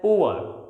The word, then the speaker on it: poor: When we pronounce these words in isolation, last R is always kept silent. Native speakers, Britishers, news anchors, they always eat last R, and the words will be pronounced as poor. It will be pronounced as poor. इसे हम poor नहीं कह सकते, it is pronounced as poor because this last R is never pronounced.